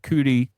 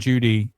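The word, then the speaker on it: Cudi: I said earlier Mount some some pronounce it Mount cudy some pronounce it Mount Judy in the in the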